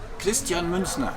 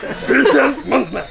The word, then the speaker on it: Christian Münzner: First of all, my audience is always offended by how pronounce German names. Could you please say your names? Christian Münzner. Münzner. Münzner. Münzner. Münzner. Pues vale verga. Christian Münzner.